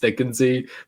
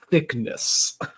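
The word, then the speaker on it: Thicknesse: Potter character because it's supposed to be it's pronounced thicken Z but he always Pious thickness but I I loved it I thought it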